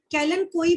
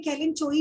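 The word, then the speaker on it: Kalanchoe: Rare example है बिग्नोनिया, Helen कैलन कोई, कैलन कोई बोलते हैं, कैलन चोई नहीं है, ये एक्चुअल साइलेंट है।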